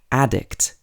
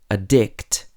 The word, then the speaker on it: addict: noun or a verb for example addict is a noun and addict is a verb you can also say